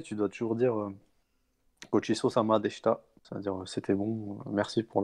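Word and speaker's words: でした: Tu vois, tu vas pas vraiment faire le chi.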